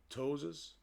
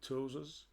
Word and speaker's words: ptosis: and it's characterized by ptosis the P is silent ptosis miosis anhidrosis and inner